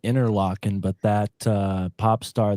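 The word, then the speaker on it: Interlochen: Really Mark in they pronounce it they pronounce it interlocking but that uh pop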